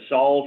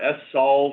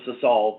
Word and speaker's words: SSOLVE: observation lunar volatile experiment which is variously pronounced as solve or F solve or one crazy person calls us to solve but we don't respect that I'll start with the